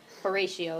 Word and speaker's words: Horatio: Horatio is how you say that. Horatio Gates.